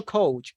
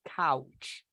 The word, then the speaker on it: couch: this how do you pronounce this word couch couch yes it is no coach it is couch okay let's see the